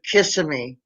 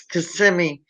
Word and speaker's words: Kissimmee: In Florida, the most mispronounced city in the state is Kissimmee. Kissimmee. Everyone calls it Kissimmee. It's Kissimmee, and people will call it Kissimmee Montana.